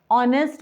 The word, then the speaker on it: honest: वो वॉवल के जैसा है क्योंकि यहाँ पे एच साइलेंट रहता है. हम ऑनर बोलते हैं, ऑनेस्ट मैन बोलते हैं.